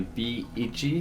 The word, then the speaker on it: B Ichi: haven't heard of it so the way you pronounce this one is actually b ichi it means b1 this is by the same